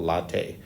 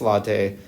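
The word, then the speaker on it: LIATE: comes in which called latte that's how we pronounce it uh some people say it's the for me it's latte and yeah I think of a cup of coffee um so that's why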